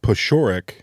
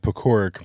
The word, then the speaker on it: Paciorek: I just found out that I was saying my last name wrong for 35 years. My last name is pronounced Paciorek. Paciorek. Nope, would have never gone there. I've been pronouncing it Paciorek my entire life, and I'm just sticking Paciorek. Paciorek? Paciorek. What is that? It's Polish. Yeah. Yeah, it's Polish.